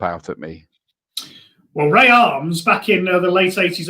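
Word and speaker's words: Armes: And you pronounce it Arms, do you? Yes, Ray Arms, yes.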